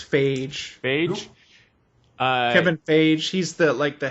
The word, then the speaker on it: Feige: I'm going to say his last name wrong. Feige. I think it's Feige.